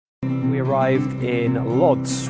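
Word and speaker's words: Łódź: we arrived in Lots which is spelt LOD Z but actually pronounced wood which is the third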